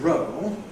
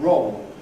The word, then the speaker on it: roll: So if we take a word like roll, traditional RP roll, O plus all, dark L, what you get in London and in many other places is a special dark allophone, O before dark L. So you have roll, roll. Then it has a different vowel quality than row does, where you have the ordinary O.